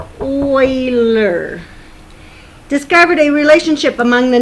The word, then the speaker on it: Euler: So a Swiss mathematician, Leonard Euler, this is pronounced Euler, discovered a relationship among the number of faces, vertices, and edges of any polyhedron that he took a look at.